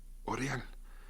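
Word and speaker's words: L'Oréal: fórmula así se pronuncia se escribe aureal en francés la a u se pronuncia o oreal Y cómo este individuo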